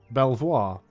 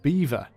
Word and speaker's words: Belvoir: is it's not pronounced Belvoir it's pronounced beaver as in you know the little sort of rodent animal that choose would it's